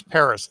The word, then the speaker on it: Pares: of the last thing it's paris like the city paris it's p-a-r-e-s it's uh